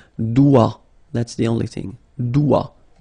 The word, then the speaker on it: doigt: Le doigt. Okay, so don't be frightened by this G because basically you don't pronounce it and then the final T you don't pronounce it. So the only thing you get to pronounce